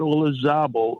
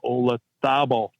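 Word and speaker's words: Olazábal: Jose Maria Olazabal, not Olazabal, Olazabal.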